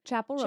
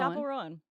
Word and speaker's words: Chappell Roan: Chapel Rowan. Chapel Rowan.